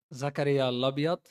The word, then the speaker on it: Zakaria Labyad: First of all, Zakaria Lobot how you pronounce my name.